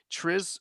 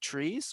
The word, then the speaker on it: TRIZ: Is it trees or is it TRIZ? Triz. Triz. The TRIZ. Okay. I looked it up. The Russians pronounce it Triz, and it's their language.